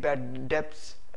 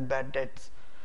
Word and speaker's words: bad debts: is bad debts we don't uh say it bad debts we pronounce it as bad debts bad that's bad that's catchy uh for example